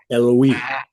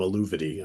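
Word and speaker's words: Eluveitie: I think the correct way to pronounce it is Eloise, Of course.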